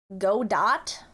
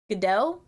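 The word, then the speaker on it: Godot: Go dot doesn't roll off the tongue. That's good. Dungeon creation tool. Whoa. Moto. Go dot. That's like hard to say. GDO. Like good day. Like Australia.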